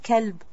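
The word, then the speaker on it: كلب: kalb what is called heart and what is kelb dog so make sure you pronounce properly because you might be referring to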